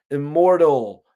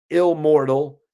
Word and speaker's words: Immortal: they can never die a mortal technique it's pronounced IM Immortal not like how you say it it's ill mortal it's not Illmatic it's um and stop shouting